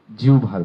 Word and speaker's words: জিহ্বা: আজকে আমরা যাবো জিউভার ব্যামে। প্রথমে বলতে চাই জিউভা এটি এটির উচ্চারণ না জেনেই আমরা ব্যামে যাবো না স্ক্রিনে খেয়াল করুন এটি শুদ্ধ হচ্ছে জিউভা প্রচলিত আরেকটি শুদ্ধ আছে